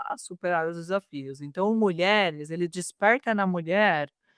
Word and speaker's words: MulherEHS: A pronúncia correta é mulheres.